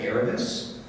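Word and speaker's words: Erebus: engine which we named and we we we pronounce it arabis which is a Greek with which in Greek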